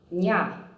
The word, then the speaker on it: ня: And in addition to that, have you noticed that in the soft syllables nya, mya, vya, the y sound is not present. It disappears.